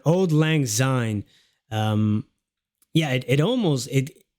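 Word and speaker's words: Auld Lang Syne: was that way oh so that's how you pronounce Old Lang Zine um yeah it almost it like in Dutch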